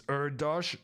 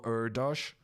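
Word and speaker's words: Erdős: do it in Polish Hungarian is kind of strange though it's urdosh just like the mathematician Paul erdosh does everyone know how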